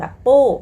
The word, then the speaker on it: 不: จะ แบบ ปฏิเสธ แบบ ปู้ แปล ว่า ไม่ ฉัน ไม่ ไป ฉัน ไม่ ทำ อะไร อย่า เงี้ย คะ ปู้ คำ เดียว สั้น ๆ เลย นะ คะ ออก เสียง 4 ค่ะ ต นี้ ปู้ ตาม